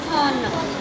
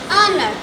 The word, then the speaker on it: honor: Number 2, do not say honor, rather say honor.